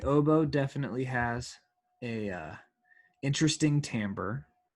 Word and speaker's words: timbre: The oboe definitely has a interesting timbre, which is maybe the only word I can think of that you pronounce in I, like an A.